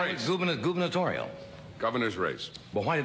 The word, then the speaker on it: gubernatorial: But I guess the big race for the Democratic gubernatorial, is that the way you pronounce it?